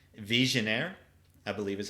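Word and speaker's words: Vigenère: This is French. Visionnaire, I believe is how it's pronounced.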